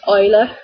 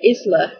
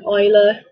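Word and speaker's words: Isla: is the fact that I'm scared people call her Isler because that's how it's written you know I'm worried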